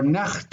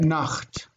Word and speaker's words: Nacht: In German you've got that Nacht, cha, right?